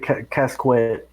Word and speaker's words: casquette: It's Apparently, you pronounce it casquet.